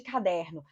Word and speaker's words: caderno: Qual é a sílaba tônica de caderno? Caderno. Der.